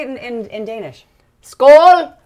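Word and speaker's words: skål: how do you say it in in Danish Skool Skool M hi M it is earthy did you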